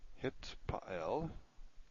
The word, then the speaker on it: Hitpael: Hitpael. See, it's better if you pronounce this correctly. Hitpael. And, or some people say Hitpael, if you're pronouncing the TH the way it probably was pronounced historically.